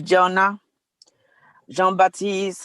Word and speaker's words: Jonah Jean-Baptiste: not let me go to i think it's pronounced jonah john baptiste yes the floor is yours yeah my name is jonah jean-baptiste um um i lost my husband from kuvik